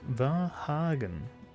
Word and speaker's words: Vahagn: It's pronounced Vahagn. Vahagn? Like it's a hard G on the end?